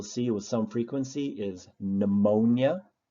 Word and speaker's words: pneumonia: with some frequency is pneumonia the P is silent and you start the word with the sound n another one would be